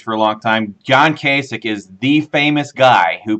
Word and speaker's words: Kasich: that our governor and you pronounce his last name wrong there Patrick because it's not John Kasich it is Kasich suck and that's what he